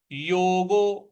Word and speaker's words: योगो: योगो। योगो के बाद में एस लिखा हुआ है, तो योगो में गो जो है उसको, ओ की मात्रा को हम दीर्घ खींचेंगे। तो योगो। योगो निर्विण।